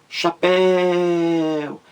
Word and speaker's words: chapéu: a sílaba mais forte então você grita chapéu você demora mais na última sílaba é chapéu então chapéu é uma palavra oxítona porque a sílaba mais forte é a última então você vê aí